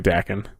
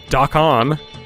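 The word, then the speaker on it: Dakkon: It's definitely Dakin. I mean, like I have no idea. We're not. I mean, what is the old shitty metal band from the 80s? It's not Dakan. Right? It's Dakin.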